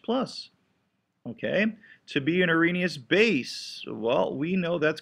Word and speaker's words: Arrhenius: And so the Arrhenius or the Arrhenius definition, I think the H is silent, okay, is the most simplistic of all definitions.